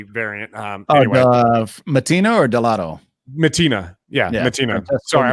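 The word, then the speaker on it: Mattina: Matina. Yeah, Matina. Francesco Sorry, I was thinking of Matina, someone else.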